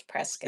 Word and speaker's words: Prescott: It's Prescott.